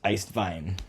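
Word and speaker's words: Eiswein: blanc and vito blanc um in german it's pronounced iced vine so it's kind of fun to say um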